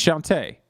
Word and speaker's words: Shantae: It's Shantae.